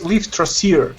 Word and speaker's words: Lifthrasir: By the way, Kevin, it's Lifthrasir. It's Norse mythology. It means the one striving after life. I have to say it like that, with that Serbian accent, in order to make it Well, make you, sense. you could if you want, but or you could use regular English. Lifthrasir. Lifthrasir. Okay. Lifthrasir. That's how you pronounce it.